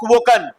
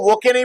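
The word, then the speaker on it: woken: वेक वोक वोकन वे इसको वोके मत पढ़ना डब्लू ओ के ई को वोके नहीं पढ़ना है वोक पढ़ना और उसको वोकेन नहीं पढ़ना है वोकन पढ़ना ठीक है उसको ई हटा देना ई हटा देना पढ़ने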